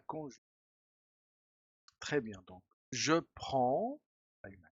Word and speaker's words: prends: Très bien, donc je prends, hay una S, tu prends, S, il prend, desaparece. Je, tu, no se pronuncia ni la D ni la S. Et en, ¿ah? Muchos hispanohablantes dicen je prenne porque en quieren pronunciarlo